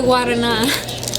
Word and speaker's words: guarana: Isn't that an R? Guavana. No. That's a V? The guavana. I think don't correct me on that, but I think. Okay. I just opened the guavana. Is that how you say it? Is that what it is? Guavana. You see, I told you it was an R.